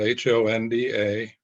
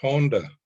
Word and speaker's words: Honda: pronounce her name a japanese-american woman name spelled h-o-n-d-a and she says it's pronounced honda not honda um a little thing but important